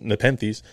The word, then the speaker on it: Nepenthes: need is nepenthus yeah nepenthus or nepenthes nepenthes which is pronounced nepenthes is a genus of